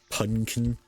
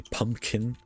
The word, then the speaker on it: pumpkin: I do not say punkin. I say pumpkin. It just sounds like I say it wrong because I am nasally.